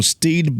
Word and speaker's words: Stede: So I was doing some research on Stede Bonnet, the gentleman pirate, Because that's who I